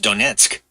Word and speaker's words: Donetsk: years is like pre-flood, and it was in Donetsk, Ukraine. Is that the name? Is that how you pronounce it? Donetsk. Yeah, it's pronounced Donetsk.